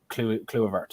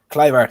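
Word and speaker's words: Kluivert: atoms their new CDM and then we have clue of art as well I think I butchering the pronunciation cliver there we go thank you um for giving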